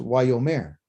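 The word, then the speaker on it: ויאמר: this means and and why omar which is pronounced why yo mare okay we'll get into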